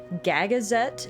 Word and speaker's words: Gagazet: Gagazette is the pronunciation, I think.